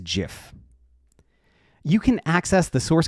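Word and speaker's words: GIF: the correct way to pronounce this word is Jif you can access the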